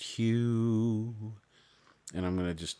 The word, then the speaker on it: HU: should be chanted, but it's H-U, and it's pronounced Hue, and I'm going to just do it a